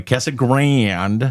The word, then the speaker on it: Casa Grande: And so sorry, Kessa Grand.